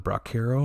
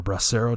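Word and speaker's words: bracero: up you also saw the brackeiro or brassero depending on how you want to pronounce it program was actually starting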